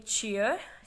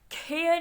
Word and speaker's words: chair: For example हम जैसे कि आप वर्ड ले लें चेयर, CHAIR, खेयर हम इसको प्रोनाउंस नहीं करेंगे, इट इज़ चेयर, चेयर।